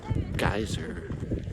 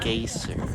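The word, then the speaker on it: Geysir: in in uh it's it's spelled G E Y S I R but I don't think it's geyser. It's more like gaseer.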